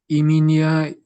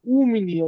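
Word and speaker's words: у меня: ই, ইমিনিয়া east মামা, এর পাপ, হুম, পাপা ইব্রাত। ইব্রাত, তো এটা হবে উ, এটার উচ্চারণ করতে হবে উ, উ মিনিয়া, ই মিনিয়া না, উ।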